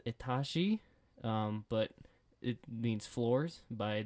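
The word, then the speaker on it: Этажи: said we're gonna listen to this it is pronounced atashi but it means floors by the band multnomah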